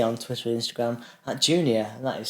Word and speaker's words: JEWKNEEOR: Jew, a follower of the Jewish religion. Knee, bend in your leg.